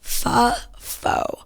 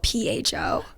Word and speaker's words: pho: When people call pho. I know it's spelled P-H-O. It's pho. Like you're about to say pho. Oh, it's not pho?